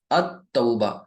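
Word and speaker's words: التوبة: दाखिल करें अब बताइए क्या आपने यहां पर लाम पढ़ा नहीं पढ़ा आप किस तरह पढ़ रहे इसको अ तौबा ठीक है यानी यहां पर आप ये लाम को बिल्कुल भी प्रोनाउंस नहीं कर रहे हैं और डायरेक्ट ता शद लग जा रही है लिहाजा यानी इन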